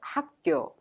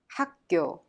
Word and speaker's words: 학교: Thereby pronounced 학교 학교.